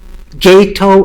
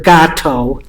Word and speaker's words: GATO: GATO or GATO, you hear it pronounced both ways.